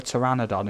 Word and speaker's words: pteranodon: can't you hear a pteranodon in the bathroom because the p is silent honestly man i